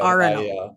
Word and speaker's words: Arenal: Arenal. I looked ridiculous the entire trip because I can't pronounce anything.